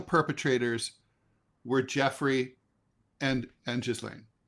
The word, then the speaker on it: Ghislaine: So the only real perpetrators were Jeffrey and and Jizlane, right? Galain.